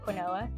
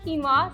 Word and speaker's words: quinoa: And fun fact, when I first heard or saw the word quinoa, I said quinoa. That's how I thought you said it. That's how it's spelled, right? But it's quinoa, so now you don't